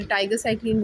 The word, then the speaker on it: Tigecycline: अंदर जो ड्रग है वो है टीट्रासाइक्लिन, कुछ उसे टाइगर साइक्लिन बोलते हैं। तो डिफरेंट प्रोनाउंसिएशंस आपको जो आपके प्रोफेसर्स बोलते हैं आप वो बोलें। खैर मैं इसको टीट्रासाइक्लिन कह के प्रोनाउंस करूँगी।